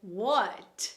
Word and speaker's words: what: A pronúncia correta dessa palavra é what, com T no final, né? Então a gente vai falar o T, mas de forma sutil, tá?